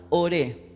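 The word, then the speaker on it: אור: él está hablando de la palabra hebrea por la palabra de veras se pronuncia ore que significa luz del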